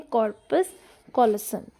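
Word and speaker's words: corpus callosum: हाँ, इसको बोलते हैं, ये जो सी पार्ट है इसको बोलते हैं कॉर्पस कॉलोसम, कैलोसम, CALLOSUM, जो मैंने स्टार्टिंग में पढ़ाया था, ठीक है।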